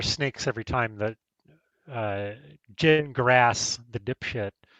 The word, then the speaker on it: Gingras: I mean, I hear snakes every time that uh Jin grass the you know, uh speaks whether it's it's pronounced gin like you drink and grass like you mow.